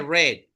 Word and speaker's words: read: Se dice red, como el color red.